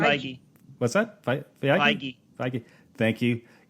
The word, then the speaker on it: Feige: The producer, of course, is Kevin Feige. Am I pronouncing his last name? Feige.